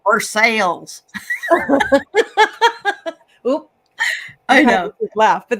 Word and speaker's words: Versailles: Like in Kentucky, actually, there's a Versailles. I mean, that's how it's spelled, but they call it Versailles.